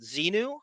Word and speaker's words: Xenu: about Xenu.